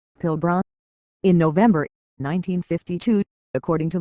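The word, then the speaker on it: Pilbara: It is pronounced as syllables Pilbr.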